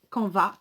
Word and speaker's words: canvas: tout simplement donc voilà un camp va ce camp va c'est ça c'est à nv ares en français moi je ne prononce pas le m ok comme dans le